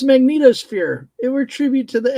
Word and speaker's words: magnetosphere: Oh, I called it mag magnetosphere like X-Men, but no, it's not magneto. Okay. Well, you and I differ very widely on our pronunciation with me. Florida. Yeah. Yeah, I have a problem. It's magnetosphere.